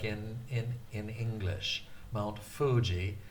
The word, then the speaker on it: Fuji: It's usually transcribed with spelling F-U. Mount Fuji. It's not Mount Fuji. It's not a F like in English. Mount Fuji.